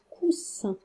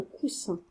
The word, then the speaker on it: coussin: Ou est-ce que vous ramassez un coussin? Eh bien, pour ma part, je ramasse un coussin.